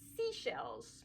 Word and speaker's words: Seychelles: Moving right past two, we have our series 3 members, Jade and Seashells.